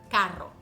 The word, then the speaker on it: carro: in two halves so let's take the word carro we break it down in the middle and we get car ro you want to pronounce each syllable with a soft R car ro and to make a tiny pause in the middle car ro and try to do it fast car ro car ro eventually your brain is